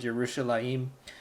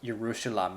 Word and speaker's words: Yerushalayim: in in the word yerushalayim so this probably why the book doesn't go over it but this is not pronounced Jerusalem a it's your Russian law team the here it gets pronounced before the ma'am I'm not exactly